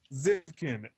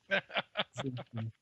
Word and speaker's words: Xivkyn: Pronounce it Zivkin. one more time. Zivkin.